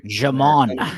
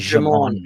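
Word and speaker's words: Djimon: Jamon. His name is Jamon Honsu. Yeah, and I apologize, Jamon, because I have brain farts all the time, so don't take it personally. Like Django, the D is silent.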